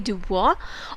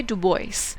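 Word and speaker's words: DuBois: डुबुआ जो है वो एक फ्रेंच ओरिजिन का वर्ड है, सरनेम है, तो अगर हम फ्रेंच में बोलेंगे तो हम बोलेंगे डुबुआ, और अगर हम इंग्लिश प्रोनाउंसिएशन उसकी देखेंगे तो इट विल बी डुबॉइस।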